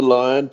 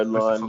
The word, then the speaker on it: Lyon: I have a tough time pronouncing your last name, so I'm just gonna say Chef. Yeah, it's Lyon, but you know, Lyon, Lyon.